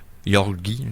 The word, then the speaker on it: Georgi: C'est Georges dans le fond, c'est ça en russe là. Yorgi, ou en tout cas Corgi Kozlov.